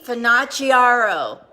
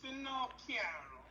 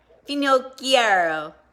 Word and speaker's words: Finocchiaro: But my last name is Finocchiaro. Finocchiaro. Yes, it's Italian. It's two words smushed together.